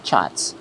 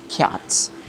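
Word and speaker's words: kyat: 10 chats, not cats. The way they pronounce the cats is chats. It's not cats. It should be chats. It should be pronounced as chats.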